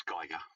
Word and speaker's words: Geiger: It's Geiger. Geiger, yeah, me and my pronunciation.